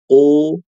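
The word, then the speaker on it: ق: Ibu huruf qof-nya jangan ditelan. U qu u keluar jangan jangan itu ditelan itu. Itu suaranya ketelan.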